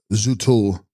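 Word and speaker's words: rdzu-'phrul: Text, Zufrol, pronounced Zutul.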